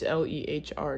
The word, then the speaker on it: Lehr: It's Lehr now for some reason.